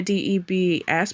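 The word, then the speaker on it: D.E.B.S.: D E B S but I don't know is it I think it's pronounced Debs actually.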